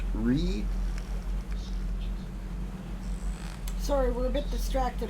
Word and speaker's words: Righ: That's R-I-G-H, pronounced Ree.